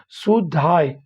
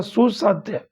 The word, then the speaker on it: सुसाध्य: अपनी कक्षा में अर्थपूर्ण अधिगम को सुधाय, ठीक है, शुद्धाय सुसाध्य, सॉरी यहाँ गलती हो गया, इसका उच्चारण होगा सुसाध्य।